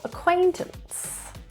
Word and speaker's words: acquaintance: Stress is in the second syllable. Acquaintance.